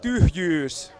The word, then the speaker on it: Tyhjyys: I don't know how to pronounce. I'm not familiar with Finn. It is a tricky word. It's called tyhjyys.